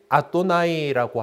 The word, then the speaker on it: 아도나이: 그냥 그거대로 읽지 않고 이걸 갖다가 주님에 해당하는 아도나이라고 하는 단어를 그로 발음을 대신하게 됩니다.